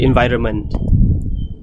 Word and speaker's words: environment: eight environment environment about if you say this word really quickly usually people just drop the nend they don't say the nend they say environment environment as long as